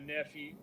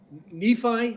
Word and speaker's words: Nephi: take off out of nephew nephi i keep saying it wrong is it neat yeah and lehigh all